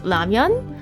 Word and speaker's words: lamian: Um, next is lamian. Um, I know it's spelled ramen, which is like the Japanese pronunciation, I think, but I call it Lamian.